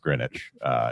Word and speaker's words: Greenwich: First of all, it's pronounced Greenwich, even though it's sounds like spinach.